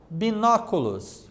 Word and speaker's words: binóculos: Binóculos, como fica? Binóculos. Observe que o nó é a sílaba, então, acentuada, a antepenúltima sílaba.